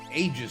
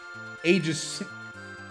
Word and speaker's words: Aegis: In Dota as well, you take the Aegis, you know, the Aegis. There are multiple pronunciations. Aegis is probably right, but Aegis just sounds better.